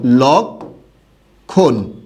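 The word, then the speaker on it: লক্ষ্মণ: এটার উচ্চারণটা এরকম হবে, লক্ষণ। খেয়াল করেছেন? এবং এখানে চন্দ্রবিন্দু হবে। এখানে কি হবে? চন্দ্রবিন্দু। কেন? এখানে এটা দ্বিত্ব করতে পারবে না। কখনোই যুক্ত বর্ণের সাথে থাকলে সাধারণত মফলা দ্বিত্ব করতে পারে না, কিন্তু তার প্রভাব, চন্দ্রবিন্দু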